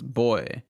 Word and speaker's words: voy: going to okay so okay it's with a v yeah so that's funny because i thought these were bees in spanish so like like like what you're saying voy is boy right oh yeah i said